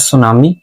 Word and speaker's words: tsunami: कुछ बच्चे इस नाम को जो है ना वो गलत भी पढ़ते हैं। यहां पर हमारे पास जो टी है वो क्या है? साइलेंट है। तो ये हमारे पास सुनामी वेव्स होती हैं।